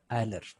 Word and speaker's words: Euler: Spelling क्या लिखते हैं उनकी? EULER, लेकिन पढ़ते क्या है इसको? आयलर।